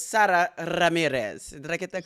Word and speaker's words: Ramirez: uh pronunciation is Sarah Ramirez but I think I got it right it's Sarah Ramirez did I get that correct you really rolled that R and you also got